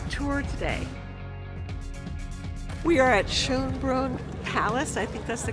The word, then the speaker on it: Schönbrunn: We are at Schönbrunn Palace. I think that's the correct pronunciation here in Vienna, and we're so excited to be here.